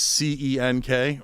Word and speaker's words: Cenk: Cenk is tough spelling. It's C-E-N-K, right? It's a Turkish name. The C's pronounced like a J.